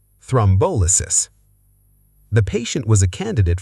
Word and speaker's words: thrombolysis: Equal stress is wrong. Correct. Thrombolysis. Thrombolysis.